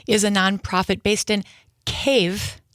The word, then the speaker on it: Kyiv: And you are the founder and the CEO of Ukrainian Patriot, which is a nonprofit based in Cave, not Kev, not Kiev, but cave.